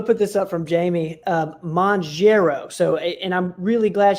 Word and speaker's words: Mounjaro: Mounjaro is how we pronounce it.